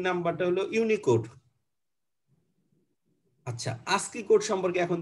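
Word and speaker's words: Unicode: এবং 3 নাম্বারটাকে একসঙ্গে উচ্চারণ করবা, এটার নাম হবে ইউনিকোড।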